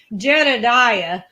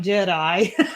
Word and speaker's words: Jedediah: Jedediah is what he was saying, not Jedi.